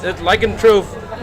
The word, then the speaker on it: lycanthrope: Lycanthrope is the correct, is the correct pronunciation, because lycanthropy is the process of transforming, and the product is the lycanthrope.